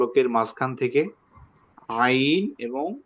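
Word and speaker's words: ع: এই যে দেখেন এখানে চিহ্ন দেওয়া হয়েছে ছবির মধ্যে, দেখেন ফলকের মাঝখানের একেবারে যে শক্ত জায়গা, সেখান থেকে হা এবং আইন, হা, আইন, জি আইন, হা।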